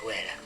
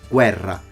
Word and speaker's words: guerra: Double R is pronounced as a double R all the time. Guerra. There are some Italians that say guerra, but they are in Rome. It's kind of a characteristic of a Roman accent that he shouldn't have. As a Sicilian, he should pronounce his double R's strongly.